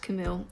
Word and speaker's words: Camus: and equally dangerous Camus Albert Camus c-a-m-u-s pronounced Camille is the best resource